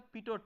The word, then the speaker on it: Pitot: is known as a PTO tube so the last T is silent so it is pronounced as PTO tube okay so this